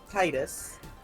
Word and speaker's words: Tidus: How do you pronounce this boy's name? Tidus.